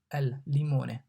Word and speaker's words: limone: L, limone. The L here is pronounced like L in lemon. L, limone. Lemon, limone.